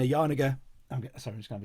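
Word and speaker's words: Janega: And Eleanor Yanega, sorry, no, I'll say her name properly. And Eleanor Yarniger, I'm just going to have a drink.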